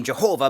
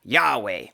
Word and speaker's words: Yahweh: So as common as the name Jehovah might be to your ears, it's not actually the name of God. Rather, our best guess for pronouncing God's name is, in fact, Yahweh.